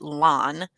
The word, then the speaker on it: Lan: Annie Danny replied to Katya saying, Nico seems to have so much land, or I keep saying land, but the audiobook pronounces it lawn in him.